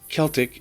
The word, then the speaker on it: Celtic: didn't paint themselves blue celtic is pronounced with a hard k not an s looking at you boston